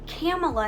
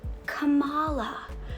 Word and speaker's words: Kamala: you ready to play is not kamala harris it is kamala like harris rihanna is how we